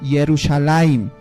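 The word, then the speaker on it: ירושלים: Uniendo estas dos palabras se pronuncia Yerushalayim, que al castellano viene Jerusalén.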